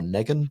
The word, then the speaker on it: Negan: Dean Morgan there is the villainous Negan, or Negan. Negan. The bat I'm sure it's pronounced Negan.